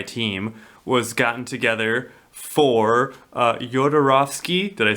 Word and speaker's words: Jodorowsky: So he, Dan O'Bannon, he was a screenwriter, and he was originally the sci-fi team was gotten together for Jodorowsky.